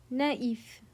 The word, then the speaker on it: naïf: But the tréma forces you to slash them apart and pronounce them as 2 distinct syllables. Without the dots, these words would blend into a completely different sound. With them, we split.